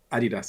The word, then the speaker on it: Adidas: you only point out the guy's name is adidas isn't it that's how you pronounce the person's surname there's no there's no